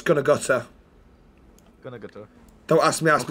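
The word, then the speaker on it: Gunnaguther: It's pronounced Douglas Gunagutter.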